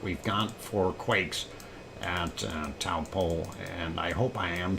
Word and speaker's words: Taupo: And GG translation only have anglicized old Taupo pronunciation. Taupo?